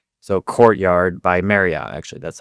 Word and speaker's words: Courtyard by Marriott: So, Courtyard by Marriott, actually, that's how you say it.